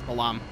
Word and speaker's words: Balamb: it out or Balam I know some people say this bottom garden I'm I tend to say it is Balaam and again my let's